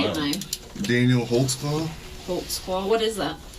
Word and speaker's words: Holtzclaw: there because i don't even know how to spell it how do you say it daniel holtzclaw volkswagen what is that it's a german can